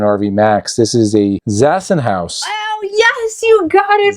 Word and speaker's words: Zassenhaus: What did you use to pronounce it? Zassenhaus. Zassenhaus. I think you said Bausenhaus.